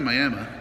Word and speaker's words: Miami: I made it into Miami, spelled like Miami, but pronounced Miami, Oklahoma.